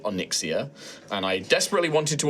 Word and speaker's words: Onyxia: Onyxia. Onyxia. No, I'm saying it. You just said Onyx.